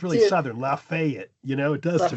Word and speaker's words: Lafayette: Lafayette. Lafayette, Louisiana. Uh there's even a university there, right? Okay. They say that the Louisiana one is Laf Lafayette. Lafayette, but now